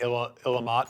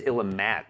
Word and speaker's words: Illimat: who did drill me on the pronunciation of the game because I had been saying Illimat for a long time. I really do like the idea. Because it's Illimat.